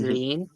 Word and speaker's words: Rin: So, the official pronunciation of Ren is lean, but obviously in in Japan because the way they pronounce ours, it is actually closer to lean.